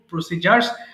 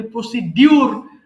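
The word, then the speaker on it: procedure: আমি একটু আপনাদের কোর্স মডিউল সম্পর্কে বলবো এবং শেষে আমি ভর্তির প্রসিজার বলবো, প্রসিজার্স। আমরা যদি উচ্চারণ করি প্রসিডিউর, বা সঠিক উচ্চারণ হবে প্রসিজার। হ্যাঁ, প্রসিজার।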